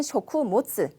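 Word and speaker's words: 食物: 자, 그리고 B번에 있는 쇼쿠모츠. 쇼쿠모츠 하는 거는 이제 식물 아니고 타베모노. 이제 그 타베모노 음식물을 바로 붙여서 식물 쇼쿠모츠라고 발음하시면 되겠습니다.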